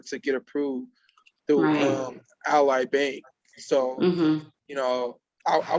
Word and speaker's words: Ally: spell that is it some people say ally i was saying ali but when i went to the dealership they was like oh you mean ally i'm like yeah oh okay